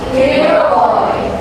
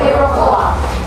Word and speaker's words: Iroquois: First, we have the English American Iroquois. Everyone say Iroquois. Iroquois. And then we have the Canadian English or French English Iroquois. Iroquois.